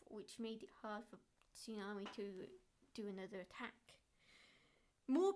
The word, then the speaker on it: Tsunami: But Tsunami is pronounced Tsunami, not Tsami, like how you pronounced it.